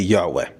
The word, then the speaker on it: Yahweh: When it comes to accuracy, most historians, most ancient Hebrew scholars would agree that the more correct pronunciation would be Yahweh.